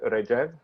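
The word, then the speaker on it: Rajeev: because that is weird your name is pronounced rajev is that correct yes everybody in the states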